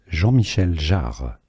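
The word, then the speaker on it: Jean-Michel Jarre: You are looking at Julian's pronunciation guy in French in France. Jean Michelle Jar and featured on the cyberpunk soundtrack which you are listening to right now.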